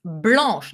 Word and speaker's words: blanche: irregular for some reason it's blanche like blush nesh snow white yeah blanche c h e but in that case